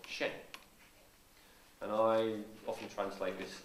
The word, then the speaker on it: Shen: Shen. It's Okay. very similar to the Japanese word Zen.